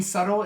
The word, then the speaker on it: subtle: Yeah, the B in subtle is silent.